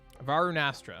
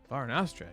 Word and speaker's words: Varunastra: Varunastra. That's how we're going to pronounce that one. Varunastra.